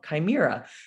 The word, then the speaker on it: chimera: this is a modern-day chimera i used to pronounce that word wrong chimera so meaning it's a combination of all these